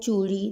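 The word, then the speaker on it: چَوڑی: Spelling same है, चे वाव और चे वाव, सिर्फ ज़बर और पेश का फ़र्क है। ज़बर लगाने से बन जाएगा चौ और पेश लगाने से बन जाएगा चू।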